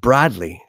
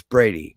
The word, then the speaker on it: Brady: was going down and this lady pronounced my name she kept pronouncing it broadly which is my brother's name it's not my name my name is Brady my brother's name is